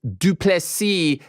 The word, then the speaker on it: du Plessis: far on Saturday drikis du plessis the S is silent damn it let's say